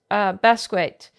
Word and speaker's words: Basquiat: I'm having yes, Basquiat, John Michael Basquiat, artist, right?